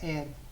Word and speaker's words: heir: Bless the एयरेस, एयर का इसका होता है एयर, स्पेलिंग एच से शुरू होती है लेकिन हम इसको प्रोनाउंस क्या करते हैं, एयर।